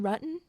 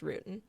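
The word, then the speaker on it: Ruetten: uh you mean John ruton yeah I know a John ruton really okay she immediately corrects them because well his name is spelled like you would think it would be pronounced Rootin right because it's r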